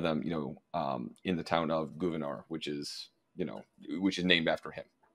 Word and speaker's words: Gouverneur: town near where I grew up called we pronounce it Gouverneur. But yeah, you absolutely took something else here. Yeah, there are a few things named after him, and one of them, in the town of Gouverneur, which is named after him.